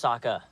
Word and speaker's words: Sokka: My name's Sokka. Rhymes with Akka and Baka.